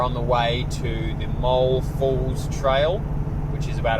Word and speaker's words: Moul: And then tomorrow we're going to do I think it's Moul, it's spelt M-O-U-L, or Moul Falls, which is about a 5-kilometer hike to another waterfall as well.